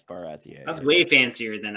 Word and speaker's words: Baratie: Is that how it's pronounced? Yeah, I was wrong. Yeah, it's Baratier.